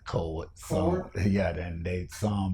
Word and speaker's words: Cowart: Cowart, Cowart. Okay. Cowart. Is it Cowart or Cowart? Well, we pronounce it Cowart.